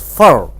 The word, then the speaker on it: for: For is pronounced as fur. The preposition for is pronounced as fur.